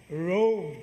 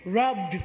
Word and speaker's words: robed: R-O-B-E-D. No, muna nga klaruhon dyan na og pronounce. Our Lord is robed in majesty. Kaya di nato na klaruhon, our Lord is rubbed with majesty.